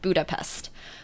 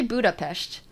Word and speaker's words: Budapest: of the time in the western world and pronounce it Budapest but it's actually Budapest so those are the